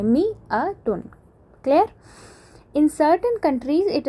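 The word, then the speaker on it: مائة: Note that in मियातुन द अलिफ इज़ not pronounced. पहली बात इसकी स्पेलिंग की करते हैं। इसमें जो ये अलिफ है, इसको हम प्रोनाउंस नहीं करते हैं। इसको प्रोनाउंस कैसे करते हैं? इस तरह से मी अ टुन।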